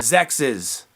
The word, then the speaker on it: XEXYZ: to promote this game sexes one more time sexes because a lot of people lights pronounce it Sexy's Zack sees and it doesn't sound as good it's not sexy it's sexist look out now in